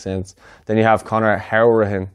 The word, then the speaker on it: Hourihan: Then you have Conor Hourihan, which he likes to pronounce it that way. So it's not Hourihan, it's actually Hourihan, he said in a recent interview.